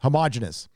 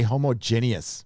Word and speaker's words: homogeneous: Homogeneous. I always want to say homogeneous, but it's homogeneous.